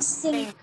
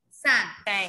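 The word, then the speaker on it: cinq: Ma'am, sink. Sang. Sang. Not sink, it's sang.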